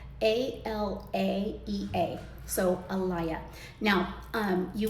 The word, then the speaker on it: Alaea: how to pronounce it, and it is called Alaea, and it's spelled a l a e a.